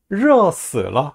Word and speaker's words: 热死了: 혀 말아 올리고 발음해 봅시다. 热死了 하면은 더워 죽겠어요 라는 뜻이 돼요.